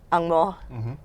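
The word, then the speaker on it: ang mo: The correct pronunciation is angmo. Like Shea, am I right?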